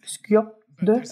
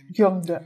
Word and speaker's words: skyob 'dod: Aber die zweite Art, was hier übrigens stark pränasal gesprochen wird, Gyomde, sagt Gyomde, es müsste eigentlich Skjomde ausgesprochen werden, aber traditionell wird es hier Gyomde ausgesprochen.